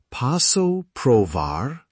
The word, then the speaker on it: posso provar: Posso provar? Pronunciation, P-O-S-S-O, pro-V-A-A-R.